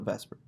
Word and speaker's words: VSEPR: electron pair repulsion theory um i know it's pronounced spelled the supper but we call it vesper it states that the repulsions between valence electron